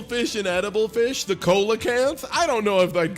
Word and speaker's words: Coelacanth: Coelacanth is actually pronounced Coelacanth.